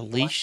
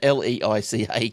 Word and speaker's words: Leica: pronounce this right, but it's a leash. Leica. What is it, sorry? Leica. Leica. And, yeah. Like a glove. Yeah, well, I don't like it too much, but it's a Leica camera.